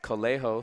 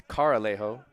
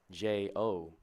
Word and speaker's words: Carralejo: But to be fair, Cammy Lewis told me his name was pronounced Colejo, so I was pronouncing it like that the last couple weeks pretty much. But it's Caralejo, Carralejo. So the pitching coach out talking to Jack Meek.